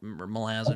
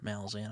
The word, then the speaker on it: Malazan: Like, I haven't read Mal Malazin or Malazan. I call it Malazan.